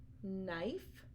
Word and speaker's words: knife: of a word but we don't actually hear the K we only hear the N so some examples are the word no knob not Knight knife and knuckle now in